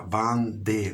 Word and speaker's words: Vendée: Sacristía de la Vendée, con V corta, Vendée, doble E, acento en la E final, Vendée.